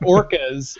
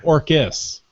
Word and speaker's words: Orcas: and stop it no it's not orcas it's orcus but it's spelled the same way I know are they